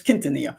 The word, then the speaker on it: Quintanilla: But her last name is Quintanilla, which is pronounced the Spanish way, because it's got QU in the beginning, and they don't pronounce the U as QU as Q in Mexico. So here we would say Quintanilla, but it's Quintanilla.